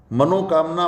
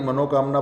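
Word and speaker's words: मनःकामना: मनोकामना पूरी करो। ईश्वर को हम प्रार्थना करते हैं, हे प्रभु हमारी मनोकामना पूरी करो। नहीं, मनोकामना नहीं होगा, मने कामना, मने कामना ये होगा।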